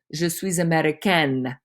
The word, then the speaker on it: américaine: If it was said by a girl, there would be an E at the end and it would be pronounced je suis américaine.